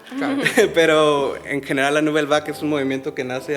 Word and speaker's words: Nouvelle Vague: Mi pronunciación malísima, Nouvelle Vague, se dice. Nouvelle Vague, Ok, ¿sí?